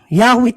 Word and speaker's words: Yahweh: Yahweh talaga yan. No, Yahweh talaga ang bigkas nila diyan, hindi Jehovah.